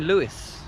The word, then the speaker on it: Lewes: We're in Lewes. I think it's called Lewes. It's spelt Lewes.